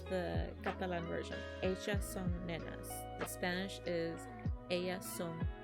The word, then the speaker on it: nenes: Anything that ends in es in Catalan has an a sound. So when you actually write it, it's ellas son nenes, but it's pronounced ellas son nenas.